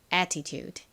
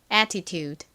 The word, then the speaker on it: attitude: attitude 발음 연습해 볼게요. 따라해 보세요. attitude 다시 한번 해 볼게요.